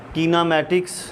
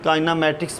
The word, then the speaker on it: kinematics: Class 9th chapter 2 हमारे पास physics का कीनामेटिक्स, pronunciation में ये काइनामेटिक्स भी इसको पढ़ा जा सकता है।